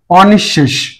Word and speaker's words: অনিঃশেষ: অবশ্যই ক্লাসটি দেখবে সবাই অনিঃশেষ নিঃশেষ শব্দটাকে এখানে অদ্বারা নেতিবাচকতা প্রকাশ পেয়েছে এজন্য অটাই থাকবে অপসারের উচ্চারণটা এখানে অ থাকবে অনি এখানে একটু আলোচনা আছে বিসর্গ থাকলে বিসর্গের পরে যে বর্ণটি থাকে সেই বর্ণটা দুইবার হয় যদি অল্পপ্রাণ হয় তাহলে ওই ধ্বনিটি দুইবার হবে যদি মহাপ্রাণ হয় তাহলে